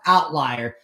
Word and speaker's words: OVTLIER: show is not misspelled that is how it's spelled but it's pronounced outlier okay someone's like you